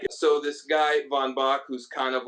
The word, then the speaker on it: Von Bach: Von Bach. Some people go Von Bach to be particularly Prussian, but Von Bach is what people say.